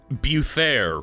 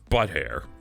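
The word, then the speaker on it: Buthaer: I named him Buttair, except it's spelled B U T H A E R. So, like Buther really is his name, but come on. It's Buttair.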